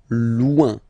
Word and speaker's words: loin: So remember when you get this combination O-I-N, it's ouin, ouin, ouin, okay? Loin.